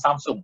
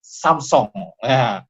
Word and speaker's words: Samsung: Saya baru tahu ternyata Samsung bacanya bukan Samsung, Samsung. Ya.